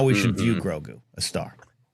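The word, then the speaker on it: Grogu: He's he's Grou. Say his name. put some respect in his name. It's Grou.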